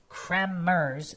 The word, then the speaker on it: Kremers: Chris Kmers, phonetically pronounced Kmers with a hard trilled R.